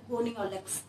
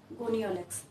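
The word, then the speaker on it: Gonyaulax: जिसका नाम क्या है, गोनियोलेक्स, क्या नाम है, गोनियोलेक्स, ठीक है। आपको घबराने की जरूरत इसलिए नहीं है क्योंकि जैसे इसकी प्रोनाउंसिएशन है वैसे इसकी स्पेलिंग है, ठीक है।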